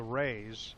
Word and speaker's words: Rea: Now, folks, if you're wondering about the Rays, Butch Ray, it's spelled R-E-A. Michael Ray, it's R-H-E-A. Sounds the same, no relation.